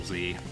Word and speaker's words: Z: Plus, like I said, an anime that I was kind of infatuated with for a while was Dragon Ball Z, and that's pronounced Z regardless of where you are.